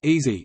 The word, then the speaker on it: EASI: Engineering and Applied Sciences Interest House (EASI), the EASI pronounced easy, is a community-focused networking organization located in on-campus